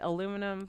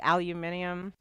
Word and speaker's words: aluminium: And so Americans right say it aluminum but I don't know if you're aware like all of Europe says like aluminium.